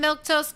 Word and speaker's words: Milquetoast: I'm Milktoast. That's how you say my name in case you're wondering.